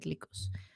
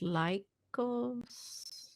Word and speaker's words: Lycos: greek for wolf but i think it's an american company so it's pronounced lycos i think you're right